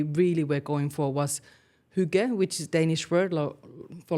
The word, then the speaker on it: hygge: were going for was hygge, which is Danish word for like cozy, comfortable. And then a few people started pronouncing it more like Huggies, the diaper brand.